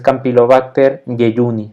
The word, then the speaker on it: Campylobacter jejuni: fonética ya latina el campylobacter jejuni entonces viene la regla de la j que se pronuncia como un y como una y entonces es campylobacter jejuni no se junte como